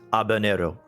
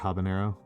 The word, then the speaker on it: habanero: We are mispronouncing it. It's abanero. I will still pronounce it with the hard abanero. There we go.